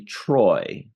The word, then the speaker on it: Troi: 3 episode 24 already Minaj ah let me pronounce this correctly Troy written by Fred Bronson and Susan sacket they're